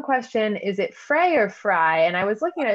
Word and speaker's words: Frey: a second you're right it is pronounced fry but i did misspell it it is okay perfect no problem um let's see yeah fray okay great so it's fr well fry but spelled f-r-e-y so